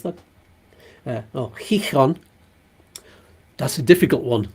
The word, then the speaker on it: Gijón: few places there, including Gijón, that's how you pronounce that. Gijón. That's a difficult one. Lots of letters that are slightly different to pronounce in Spanish there.